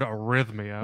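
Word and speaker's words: arrhythmia: would use the word arhythmia it's a ra it's a rather long word yes yes it's Valentine's yes it's a heart but arhythmia come on there's a silent h in there for most people but anyway gets you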